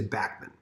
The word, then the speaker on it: Bachman: you doesn't really care but it is backman and i know that